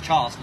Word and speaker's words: Charleston: then by the way it's Charleston 5 a in no R just Charleston uh but he's got a